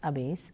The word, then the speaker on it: habéis: You remember very well that H is silent in Spanish. So, it is only he, has, ha, hemos, habéis, han.